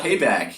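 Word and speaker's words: Paibok: before we started recording nobody can figure out how to say his name but it's basically spelled p AI b k p yeah somebody figured that out payback yeah he's the power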